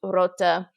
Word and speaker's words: root: The word root was pronounced rota.